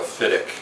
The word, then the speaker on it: Fiddich: most people uh pronounce uh in Scotland we pronounce it more of a fidic fic okay but fidic everyone's going to understand exactly what you're saying